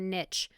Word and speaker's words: niche: Early Childhood Program was a niche or a niche however you want to pronounce it I pronounce it Niche I have we have